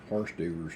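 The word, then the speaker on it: hors d'oeuvres: to and you need horse doers to take everybody knows what horse diers are at least that's the way it's spelled they don't call it that but it's spelled like horse diers or deres all right start threading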